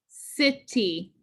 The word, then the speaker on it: city: So if I pretend my division line is here, this would say psi T. Psi T. What about here? And we make that I closed. It. City. Yeah, that sounds better.